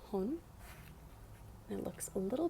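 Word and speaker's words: 本: what it goes with now this um is pronounced hon and it looks a little bit like tree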